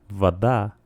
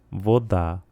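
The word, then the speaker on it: вода: Agua en ruso se dice vaá y en ucraniano vodá.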